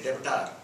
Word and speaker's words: debtor: Don't say debtor, it is debtor. I know that you know the spelling, but you don't have to explain it to me. Please don't pronounce B.